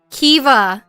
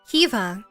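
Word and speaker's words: Caoimhe: a little sore though Kea you know how this is spelled what the okay Kea meaning gentle it's spelled c a o i m h e this is how it's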